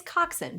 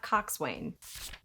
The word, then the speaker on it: coxswain: It's coxswain, not coxswain.